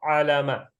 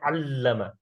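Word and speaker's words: عَلَّمَ: If you did not pronounce it properly, for example, you read it like this, alama. You know that alama is different meaning than allama.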